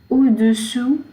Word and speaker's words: au-dessous: Sur, au-dessous de. Now these two words, there is slight difference in the pronunciation, and I will say it again and again so that you can practice.